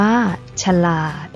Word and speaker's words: ฉลาด: นํา อักษร ต่ำ เดี่ยว เสียง ของ พยางค์ ที่ สอง จะ เปลี่ยน ไป ตาม อักษร ที่ เป็น ตัว นำ เช่น สง่า อ่าน ว่า สง่า ฉลาด อ่าน ว่า ฉลาด ขยาย อ่าน ว่า ขยาย นัก เรียน สังเกต นะ